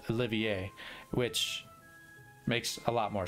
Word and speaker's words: Olivier: his name now and i realized i've been pronouncing it all wrong i've been saying olivier but and it wasn't in reference to this